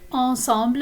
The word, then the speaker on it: ensemble: But of course, in French, this is pronounced ensemble, and it means together.